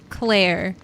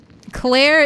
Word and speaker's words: Claire: Claire is hard to pronounce. Unless you're good with your L and your R sound, the rhotic R. Claire is a fucking awful name to pronounce. But you can blame the French for that.